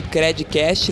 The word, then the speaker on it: Credicast: Até a próxima, e não esquece de compartilhar também o nosso conteúdo aí com a hashtag Credcast, lembrando que o D é mudo.